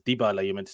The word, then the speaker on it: Dybala: two it's looking good already i think it's dibala you meant to say his name i've heard